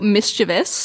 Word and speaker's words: mischievous: and they say that they actually provide the wrong pronunciation, mischievous, with the extra syllable. They use it as an alternative pronunciation because while it doesn't match the word spelling, it has a nice nod to devious in it, which makes the mispronunciation perhaps a bit mischievous in and of itself.